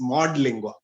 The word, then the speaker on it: Modlingua: It has got nothing to do with Modi, and it is Modlingua.